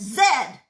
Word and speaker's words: Z: a hat a Chesterfield is a and it's pronounced Zed not V my name is and I